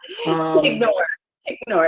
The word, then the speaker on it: Tignor: And, I have to say, I'm not sure if your last name is Tignor or Tignor, so I'm going to be corrected by the end of the panel. Tignor. It's Tignor. very, very phonetically friendly.